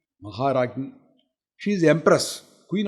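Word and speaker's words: Maharajni: Maharagni means, some people pronounce it wrongly as Rangi. It is not Rangi, it is Ragi. Maharagni.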